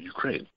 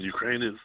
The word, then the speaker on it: Ukraine: the other thing is emphasis syllables on Ukraine right everybody called Ukraine when it's just Ukraine the emphasis on the second thousand that's a first so especially in radio I noticed it more so that you hear more is Ukraine than Ukraine the second emphasis is correct otherwise I think the